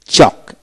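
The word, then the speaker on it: chalk: তারপর আসে চক, সি এইচ এ কে, চক এল এর উচ্চারণ হবে না, চক।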